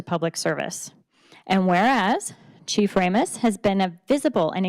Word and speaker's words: Ramos: Ramos? Okay, thank you. People pronounce it differently. I didn't want to screw that up. We'll start again. Whereas Fire Chief David A. Ramos has served North Metro Fire District with distinction